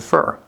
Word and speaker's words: for: o o or but for almost always reduces to fur it can come out as four that's fine but normally